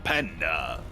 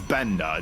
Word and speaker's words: Banda: together for Gung Fu Panda Benda I mispronounced it slightly there but is Benda don't confuse it with panda because that's not what it is yep he is uh